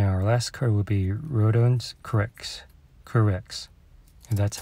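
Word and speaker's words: Rodions Kurucs: And our last card will be Rodons Kurix, and that's how you pronounce his name.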